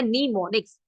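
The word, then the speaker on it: mnemonics: the help of निमोनिक्स निमोनिक एक ऐसा word है निमोनिक्स इसका एम साइलेंट होता है उसको निमोनिक्स ब निमोनिक्स हेल्प करता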